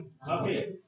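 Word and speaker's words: buffet: हैं बुफे बुफे बुफे की pronunciation क्या होगी बुफे the pronunciation is बुफे last word क्या प्रोनाउंस करेंगे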